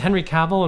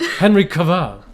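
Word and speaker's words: Henry Cavill: It's Henry Caval. And we're like, Henry Kaval. Henry Kaval.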